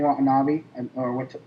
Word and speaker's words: Watanabe: I went and saw it for Bryan Cranston and Ken Watanabe, I say his last name wrong.